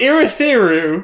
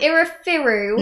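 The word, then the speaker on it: Urithiru: It's Irithiru. Irithiru. Yeah, there you go. So she's here to find Irithiru. Yeah. You're through. Let's just pretend I said it properly. You did say it properly.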